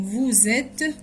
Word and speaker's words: vous êtes: دايما هنا بننطق la liaison vous êtes، ils sont، elles sont.